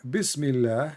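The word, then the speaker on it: بسم الله: So in the first one in Arabic, it says here Bismillah, and the Allah is written differently.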